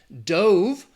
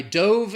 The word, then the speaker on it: dove: You have dove, which is the past tense of the verb dive. I dove in the pool yesterday. Or if we're talking about the bird, it's pronounced dove. Dove, dove.